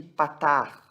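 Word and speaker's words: פַּתַח: Esse pontinho que nós temos aqui, esse risquinho aqui embaixo, ele é chamado de patar. Patar. Esse patar, ele é a vogal A, juntamente com o kametz, que também é a vogal A.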